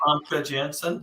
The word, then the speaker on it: Famke Janssen: Famke Janssen. Yep. Famke Jensen in it.